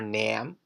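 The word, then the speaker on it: 남: Again, the vowel sound doesn't change, so the pronunciation isn't name, or nam, or nem, but nam.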